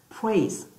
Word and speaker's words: praise: 하나밖에 없어요. 여기, 요는 발음 안 나니까 한 음절밖에 없어요. 다시, praise. 시작. praise. 자, 여기 지금 I 하고 A, A 하고 I가 있지만 이거 합쳐가지고 이 발음이 나요.